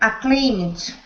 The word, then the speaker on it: acclaimed: Acclaimed. So that is just the short ED sound at the end.